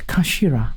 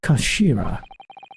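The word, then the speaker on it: 頭: end of the hilt it's written as head in Japanese but it's pronounced as Kashira I believe Kashira so Mr asuki's words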